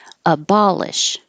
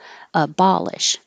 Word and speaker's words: abolish: in the back atheistic abolish this o sounds like ah ba abolish and now you have